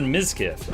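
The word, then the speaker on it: Mizkil: No, I said miskf. M I Z K I L. That's not even the same number of syllables as total biscuit.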